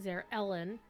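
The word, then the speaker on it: Zar'elin: So she pronounce it Zer Ellen. Um like the E is capitalized or something.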